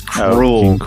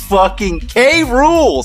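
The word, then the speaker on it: K. Rool: DK fanfiction world because he pronounced King K rule as cruel what a K rule say it with me say K and say rule Cru sorry I miss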